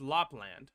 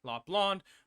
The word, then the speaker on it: Lapland: nothing that competes against Lapland La blonde whatever you like to pronounce it's like land not La blonde everyone calls a lot blonde regardless um without doubt